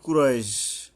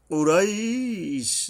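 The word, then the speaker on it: قريش: ও এই বড় কফ উচ্চারণে সাবধান হতে হবে, হলকের গোড়া থেকে শক্তভাবে আদায় হবে। কুরাইশ, যদি এখানে থামি তাহলে দুই আলিফ টেনে থামতে হবে, আর না থামলে এরকম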